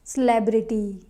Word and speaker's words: celebrity: it is celebrate celebrate but this is not celebrity it's celebrity here the second syllable is stressed who is your favorite